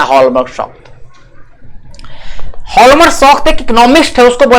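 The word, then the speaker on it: Hjalmar: लाने का जिम्मेदारी अर्थशास्त्री हॉल्मर शॉक्ट को सौंपी। हॉल्मर शॉक्ट, ठीक है। अब देखिए नाम ध्यान रखिएगा, इसमें जेड जो है ना, जे जो है वो साइलेंट है, इसलिए हॉल्मर पढ़ेंगे इसको, है ना।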